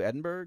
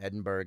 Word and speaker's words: Edinburgh: I would try and pronounce it like a Scottish, and people were like, it's Edinburgh, Edinburgh. It's really not that hard.